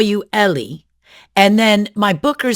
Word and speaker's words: Eli: In Israel, it is commonly pronounced Ellie. Mhm. In the US, it's commonly pronounced Eli.